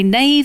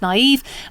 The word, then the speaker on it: naive: I still mispronounce words. I used to say nave instead of naive.